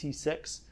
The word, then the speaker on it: CCIX: It is an alternative to the CCIX, it's pronounced C6, initiative, which has actually been running for a while.